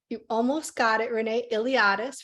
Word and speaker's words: Iliadis: Iliadis, for anyone who's wondering how to pronounce it, kind of like the Iliad, but with an is.